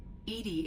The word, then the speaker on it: EDI: why are you named edie edie is the phonetic pronunciation of edi that is an acronym for enhanced defense intelligence what do you do